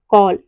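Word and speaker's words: call: यदि किसी वर्ड में ए के बाद डबल एल हो तो ए का जो प्रोनाउंसिएशन होता है वो हम आ करते हैं। जैसे कॉल, कॉल मतलब होता है पुकारना।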